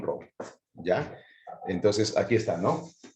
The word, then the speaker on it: Rowe: Se escribe Rowe, bueno, como es inglés, es John Rowe, ¿ya?